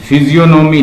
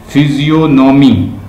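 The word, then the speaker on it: physiognomy: इन Gulliver travel के अंदर there is a stair on the politics, human फिजियोनॉमी, फिजियोनॉमी लिख लो, PHYSIOG, जी silent है, NOMY, फिजियोनॉमी, फिजियोनॉमी, ह्यूमन फिजियोनॉमी के ऊपर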